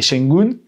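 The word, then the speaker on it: Şengün: dessus et j'ai regardé, il y a un tréma dessus, ça se dit U. C'est Shengun, c'est s'il y avait pas eu de tras sur le U.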